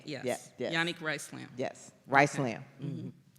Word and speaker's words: Yanik: so you say it so you know I'm calling you unique so it's yan yan yes there we go Dr Yanik like unique y a n i c k yes Yanik rice slam yes rice